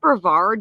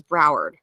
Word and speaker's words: Broward: wise there were still you say bravard because I'm pretty sure she means Broward don't even tell me she mispronounced a county in the state in which she lives search and rescue groups